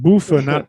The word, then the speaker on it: Buffa: It's pronounced Buffa, not Buffa. Buffa.